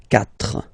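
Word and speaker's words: quatre: So you get this c but then the sound that you will pronounce is ka. Okay. Catra.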